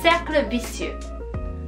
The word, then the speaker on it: cercle vicieux: 바로 악순환은 cercle vicieux, cercle vicieux의 선순환은 cercle vertueux입니다. cercle가 circle 이란 뜻이거든요. 그래서 악순환, 선순환이에요.